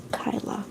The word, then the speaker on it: Kyla: Oh, really? Kyla. Okay. Good. Then I'm pronouncing it right.